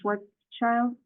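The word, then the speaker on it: Schwarzchild: introduce Our Guest how do you pronouncing that last name Schwarz child yes that that works well that works well okay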